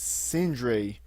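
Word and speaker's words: Sindria: what what no i i can't pronounce freaking sinbad's country's name i believe it's syndrae i believe it's how you pronounce it they at syndra's war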